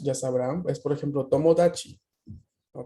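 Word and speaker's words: 友達: Tomodachi es la creación, ¿no? de la palabra tomo y el sufijo tachi, que cambia su pronunciación, ¿no? Se suaviza esta TAD, ¿no? Para indicar, ¿qué cosa? A ver, ¿quién la conoce? Mm, ¿no es amigos? So des. Entonces, tomodachi se forma de tomo más dachi, que sería la variación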